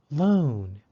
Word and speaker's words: lone: Loan is spelled L-O-N-E. Because there is a silent E after the N, the O in loan takes the long O sound.